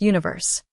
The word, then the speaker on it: 1Verse: the K-pop boy band one verse pronounced Universe the group consists of